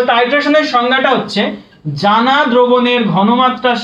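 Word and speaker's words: titration: আচ্ছা চলো, টাইট্রেশন হচ্ছে এরকম, টাইট্রেশন, এটার উচ্চারণ অনেকে ট্রাইট্রেশন পড়ে, বাট এটা উচ্চারণ হচ্ছে টাইট্রেশন, টাইট্রেশন।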